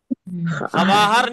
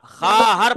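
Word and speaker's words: خواهر: है क्या पढ़ना है हरवार नहीं पढ़ना वाहर नहीं पढ़ना खा हर पढ़ना है खा हरे आहा तर्जुमा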